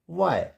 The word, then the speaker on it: why: H is silent if the word begins with WH। Simple है कि अगर word किससे स्टार्ट होगा, WH से स्टार्ट होगा, तो वहाँ पर H जो है साइलेंट हो जाएगा। जैसे WHAT, वट, इसको वहट नहीं पढ़ेंगे, what. WHY, वाई। WHITE, white and WHERE, where.